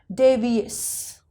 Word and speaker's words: devious: So we will not sound shus, we will sound devious.